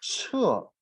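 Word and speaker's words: 屮: 个这样的小草 Just now I said 你 one 看 grass 这个图 we 片， pronounce 它 it 就念 is 彻。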